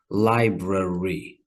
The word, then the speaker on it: library: But in everyday common speech, it gets squished down to 2 sounds.